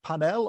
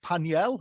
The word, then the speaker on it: Pannell: around the world and my name is pannell or paniel if i use my original french family name pronunciation now um i do